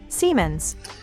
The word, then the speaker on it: Siemens: Siemens. And that's how you pronounce that name, because lately I did not